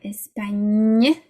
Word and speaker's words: Espagne: The GN sounds like that. Espagne, araignée, nye.